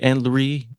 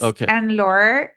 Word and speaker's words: Anne-Laure: Annlie or and almost. It's Ann and Laura and the at the end is silent.